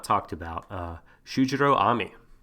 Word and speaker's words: Ami: So we talked about him, but we have not talked about Shujiro Ami. I believe Ami, A-M-I. I don't think it's pronounced Amy. I'm going to go Ami to be on the safe side.